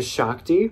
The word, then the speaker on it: Shakti: you should get this it's a shakti that's how you pronounce the brand they do they have